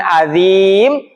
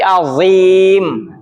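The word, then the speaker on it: عظيم: Bukan adzim tapi azim. Azim dia huruf yang tebal.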